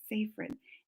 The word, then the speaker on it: Seyfried: Seyfried.